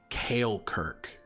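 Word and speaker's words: Caelkirk: in the first memory takes place in um kale Kirk which is a city between um chalore and with Valen and that is spelled c-a-e-l-k-i-r-k and what were the two cities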